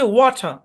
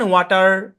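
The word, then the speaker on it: water: ব্রিটিশে হচ্ছে ওয়াটার, ওয়াটার, লাস্টে আর উচ্চারণ হবে না। কিন্তু আমেরিকান ওয়াটার, ওয়াটার, ওয়াটার, আমরা আর উচ্চারণ করতেছি।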